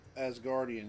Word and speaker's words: Asgardian: Did I pronounce that correctly? Asgardian, yes.